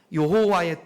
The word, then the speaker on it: 여호와: 스스로 계신 분이라고 하지 요게 이스라엘 말로 히브리어 말로여 호 와라고 발음이 되는 겁니다 여호와의 뜻은 뭐라고요 스스로 있는